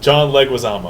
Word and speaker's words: John Leguizamo: John Leguizamo. John Leguizamo.